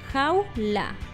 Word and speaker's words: jaula: La respuesta correcta sería en dos sílabas, jaula.